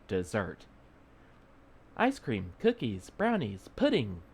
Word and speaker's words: Mount Desert: on an island called Mount desert she pronounced it desert ice cream cookies brownies